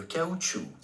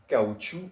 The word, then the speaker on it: caoutchouc: Le caoutchouc. Le caoutchouc. Wow. Le caoutchouc means the rubber in English, which is a material. But I will spell this word for you guys. L-E, caoutchouc, C-A-O-U-T, C-H-O-U-C.